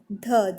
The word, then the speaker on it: ध: ध का उच्चारण स्थान। तो सही उत्तर होता है इस प्रश्न का आपका ऑप्शन नंबर डी, दंत्य हो जाता है। ध, जब आप ध देखिए